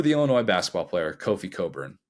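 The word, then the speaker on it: Cockburn: c k bun yes our neighbors to the north pronounce that as Coburn and that is why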